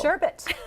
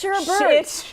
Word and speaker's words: sherbet: There's no R. It's sherbet. It's sherbet. See, it's No, it's sherbert.